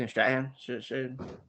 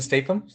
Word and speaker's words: Statham: How do you say Stratham? Jason Statham. There we go.